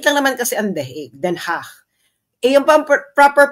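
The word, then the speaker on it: Den Haag: ICC no maliit lang naman kasi ang theig then hach yun ang proper pronunciation ng Dutch ah ng Dutch city na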